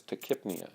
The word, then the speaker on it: tachypnea: A person who has then rapid breathing, tachypnea, we would say that that person has tachypnea, is how that's pronounced.